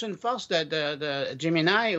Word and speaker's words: Gemini: force de de de Jimini ou Jimini moi je je le prononce en français c'est qu'il il puie